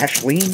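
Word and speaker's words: Aislin: Question number five was submitted by uh I believe this is Ashen is how you pronounce this. A I S L I N.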